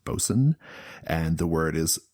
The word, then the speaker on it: boatswain: ship are called also the word is spelled boatswain but it's pronounced bosun and the word is